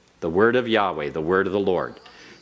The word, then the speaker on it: Yahweh: it as Adonai but Yahweh has two syllables and then you have